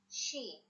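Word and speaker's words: شين: Sheen. Repeat after me. Sheen.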